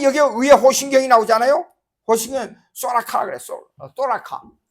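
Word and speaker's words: θώραξ: 호신경 소라카라 그래. 소라카. 어떤 사람은 이게 발음이 잘 안 되니까 이건 TH 발음이니까 스 발음인데 그 다음에 라카.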